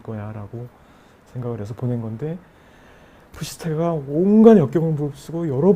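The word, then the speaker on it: Psyche: 추후에 푸시케는 그 정신, 영혼의 여신이 또 되어요. 그래서 올림푸스에 올라가서 여신까지 되어서 영생을 누리게 되는데, 이 푸시케는 영어 발음이 사이키라고 하고요.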